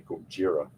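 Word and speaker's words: Gojira: uh pronunciation too because you know godzilla is actually kojira so it depends on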